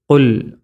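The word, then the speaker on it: قُلْ: ഒന്നാമത്തേത് ഖുൽ, ഖാഫ്. അവിടെ കുൽ എന്ന് ഓതിയാൽ ആ മാർക്ക് ലഭിക്കൂല. ഖുൽ ഖുൽ ഖുൽ ഊഹിയ.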